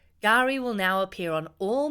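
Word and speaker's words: K'gari: Mark the historic day it's spelled k apostrophe g a r i but you'll hear it being said with a silent k gar Gary will now appear on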